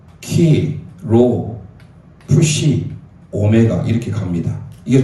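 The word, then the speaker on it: Χ: 예수수의 약자입니다 그 다음에 이게 x가 아니고 키에요 키 크리스토 크리스토스 원래 그리스도가 크리스토스예요 이게 x가 아닌 헬라어의 키입니다 키 읽을 때 키라고 읽어요 그래서 크리스토스예요 그래서 이게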